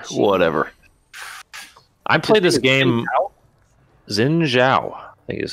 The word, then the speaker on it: Xin Zhao: Xin Zhao.